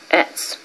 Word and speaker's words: etz: Etz. Now you know that the T-S is a Z, and you drop the vowel because they don't use vowels in the Shemitic language, and you're left with a Z.